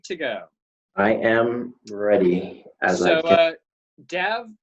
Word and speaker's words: Dav: Dav Pilkey, or Dave, depending on how you want to pronounce his name, Okay.